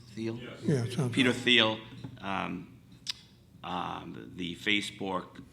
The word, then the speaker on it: Thiel: Is that how you pronounce his name? Thiel?